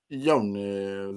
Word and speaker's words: Jonas: But the way I say it's like you don't hit a J. It's Yones. You know what I'm saying? It's like a U, like a Yones, Velatunes.